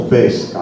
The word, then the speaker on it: pesca: Se aperta o chiusa, noi diremmo, per riferirci alla pesca, la pronuncio chiuso, pesca, l'atto del pescare, diremmo avis, quindi è una E chiusa.